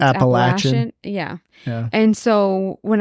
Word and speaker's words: Appalachian: Yeah, well, because it's also, I want to say too, because where I'm from, we always say like, the Appalachian Trail. Yeah. But it's actually pronounced Appalachian.